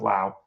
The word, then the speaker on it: Lowe: um anyway brand Lao L we but it's pronounced Lao um the second baseman for the Rays has